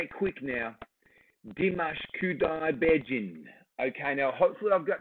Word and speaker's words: Dimash Kudaibergenov: So I'm going to go here because I've written it out phonetically. And thank you so much. It is Dimash Kudaibergenov. I'm going to say it quick now. Dimash Kudaibergenov.